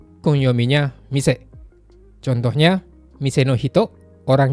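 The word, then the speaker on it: 店: Jadi teman-teman ingat aja, kalau dia berdiri sendiri dibaca mise, tapi kalau digunakan dengan kanji yang lain, kemungkinan besar bacanya teng.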